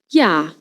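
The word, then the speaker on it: ja: Yah. J in German always pronounced like English Y.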